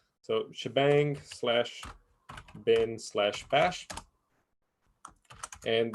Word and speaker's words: shebang: same way so hash or this is usually pronounced shebang so shebang slash bin slash bash and this is going